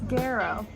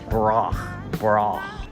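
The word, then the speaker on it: Garaux: It's Garrow. Garrow. Spell Garrow. G-A-R-A-U-X. That's why her stage name is Julia Taylor. How do you say your last name again? Guess. Groch.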